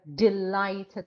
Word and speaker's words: delighted: is the second syllable or delighted second syllable so working on a